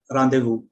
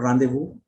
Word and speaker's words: rendezvous: Okay, and Z again is silent in very few words, and again these words are borrowed from French, as in laissez-faire and rendezvous.